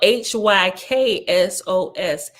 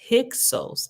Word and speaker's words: Hyksos: Okay, so right here, Hyksos, this whole nation was styled Hyksos, Hyksos, that is shepherd kings. For the first syllable, Hyk, according to the sacred dialect, denotes a king, as is Sos, S-O-S, a shepherd.